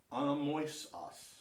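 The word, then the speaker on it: ἀνόμοιος: there's that the diphthong, o i o s anomoios anomoios anomoios an anomoios anomoios, which basically means dissimilar completely.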